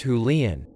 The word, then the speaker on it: Julienne: up after themselves so julienne pronounced julian i am probably spelling